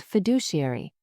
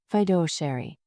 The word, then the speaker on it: fiduciary: He mispronounced fiduciary as federary.